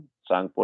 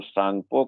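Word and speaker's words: Tsangpo: दिहंग नदी जो है, इसको कई नामों से जाना जाता है, जैसे सांगपो, TSAN, सांगपो T silent है, सांगपो, TSANG।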